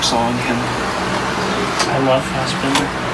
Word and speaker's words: Fassbinder: I love Fassbinder. I don't even pronounce his name right. That just shows you it's Bender. It's not Binder.